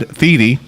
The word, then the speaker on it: Thiede: And Thiede.